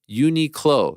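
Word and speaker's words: Uniqlo: have to respond to mysterious Frank Unico is pronounced uni clo you said it right yep sure did next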